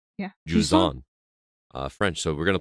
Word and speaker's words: Jusant: that he's reviewing for us called, I've been pronouncing it wrong, but it's Jusant. Yeah. Jusant.